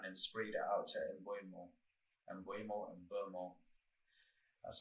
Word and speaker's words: Mbeumo: You saw that when he retrieved the ball and then sprayed it out to Mbeumo. That's how you pronounce it. I heard him say it. Mbeumo, and he sprayed it out to him, and that got us on the counter.